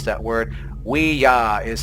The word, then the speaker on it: Ouija: want to, is the Ouija board guide. Wait, what do you say? That's how you pronounce it, okay? It's not Ouija. That's usually how people pronounce that word. Ouija is how you pronounce it.